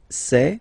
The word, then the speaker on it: sait: Il sait, final T not pronounced.